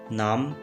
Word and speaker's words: numb: इस सेंटेंस में लफ्ज़ numb में B साइलेंट है।